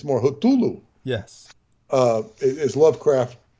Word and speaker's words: Cthulhu: and why the uh the Iraqi soldiers said patulu Cthulhu yes which is actually not the way to pronounce it it's more hotulu yes uh it is Lovecraft went on to